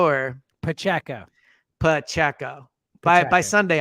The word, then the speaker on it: Pacheco: back whose name I'll just never feel comfortable pronouncing because I know I'm gonna mess it up but pinchenko or Pacheco Pacheco buy it by Sunday I'll learn it Pacheco just seems like he'd be great in space